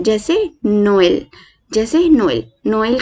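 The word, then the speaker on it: Noël: नोएल मतलब हम ई को, अगर हम इस वर्ड को थोड़ा सा डिवाइड करें तो ई को हम 2 लेंगे, यानी कि NOEEL। लिखना नहीं है, सिर्फ अपने मन के लिए ध्यान रखना है, NOEEL। तो हम इसको कैसे प्रोनाउंस करेंगे, नोएल, जैसे नोएल, नोएल।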